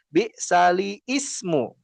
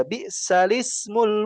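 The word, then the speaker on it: بئس الاسم: Jadi juga bukan bisali ismu ismu langsung aja bisalismul fusuqu ba'dal iman.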